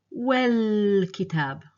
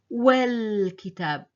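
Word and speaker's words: والكتاب: So when I pronounce this here, I will say wal-kitab. Wal-kitab. So you see, it's like I'm jumping from the wa directly to the lam and dropping the alif.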